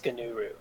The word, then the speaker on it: Gnuru: there's a Linux Gnuru. The G is silent.